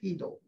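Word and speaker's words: Chytil: was philip heedle idle i think it's heedle the sea is silent he don't know where this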